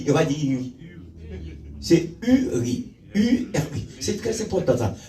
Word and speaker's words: Uri: C'est Uri. U-R-I. C'est très important ça. Ouais, la prononciation est très bonne.